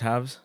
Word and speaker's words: HAVS: Uh Wait, I'm realizing now it is pronounced Havs? It's Havs, yeah.